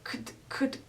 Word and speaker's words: could: I could. It's just like the k and the d together.